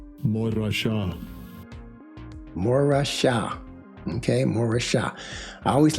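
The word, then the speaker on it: מורשה: And I always like to listen to how they pronounce it. Strongs H4181. Morasha. Morasha.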